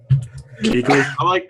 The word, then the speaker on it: Kuechly: Kuechly. I'm like struggling. Luke Kuechly. Yeah. Kuechly, yeah.